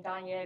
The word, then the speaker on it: Danye: But most Americans can't pronounce the name Danye. If they see the spelling, they don't know what it means. I introduce myself as Kanye with a D.